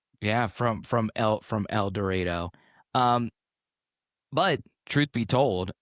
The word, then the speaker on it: El Dorado: concert venues here in El Dredo, you'll see you'll see a sign on there that says El Dredo rhymes with tornado to give the artist and then what do the artist do?